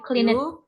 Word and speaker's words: cleaned: Have you cleaned your room? Ya, clean up. Clean. Iya. Clean. Clean. Have you clean. Waduh. Cleaned. Ya, dibacanya cleaned. Ya. Deh itu mahal. D di belakang harus dibaca ya.